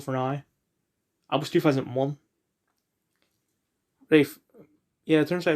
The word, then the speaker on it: Ralph: Rafe. Yeah, it turns out it's pronounced Ray and not Ralph.